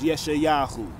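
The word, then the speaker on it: ישעיהו: is what Isaiah writes yeshayahu his Hebrew name the proper name to pronounce Isaiah is yeshayahu okay which means the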